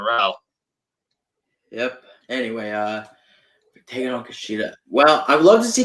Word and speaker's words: Kushida: So we have the North American Championship matchup between Johnny Gargano and what do you pronounce his name? Kushida.